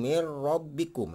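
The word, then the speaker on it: min rabbikum: dibaca jelas ya Hai Jadi dibacanya tidak dengung mengikuti huruf ro ya karena di gempi lagi nunggu Nah itu ada dua lam dan Ro Jadi cara membacanya adalah mirrobbikum mirrobbikum jadi ini disebut sebagai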